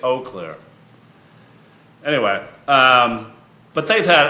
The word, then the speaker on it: Eau Claire: that's what I say no I say you Claire and then he corrected me I think it's Eau Claire anyway um but they've